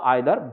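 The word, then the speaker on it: either: বা নাইদার থাকলে নর ইদার বা আইদার both pronunciation is correct so ইদার অর অথবা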